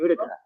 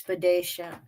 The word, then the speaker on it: Boudica: Boudica or Boudacia? How do you say it? Boudica. Boudica. Boudica? See, because he watched my pirate tag the other day. He's like, it's Boudacia. I'm like, no, I've been hearing these shush.